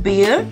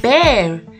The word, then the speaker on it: bear: wrong is bear b we might call it a bear but no it's not beer it's bear say it once more bear now take a